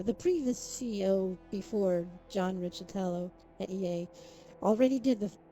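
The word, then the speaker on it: Riccitiello: A lot of people say his name differently, but Riccitello, I think, is the correct way. Richie, because it's a weird thing. It's Riccitello. John Riccitello.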